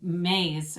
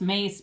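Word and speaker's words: Myss: studies even things like carolyn mays or it's mace but it's spelled m-y-s-s she's a phd theologist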